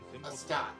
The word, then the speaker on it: Astarte: Astarte. Okay, see, I felt like I was pronouncing it incorrectly.